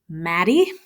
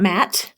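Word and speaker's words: Matty: The main character in Messenger is Maddie. Not Matt, but Maddie. So Matt has reached 2 syllables.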